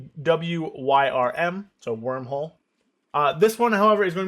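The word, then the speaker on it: Wyrmhole: And it's spelled W-Y-R-M, so wormhole.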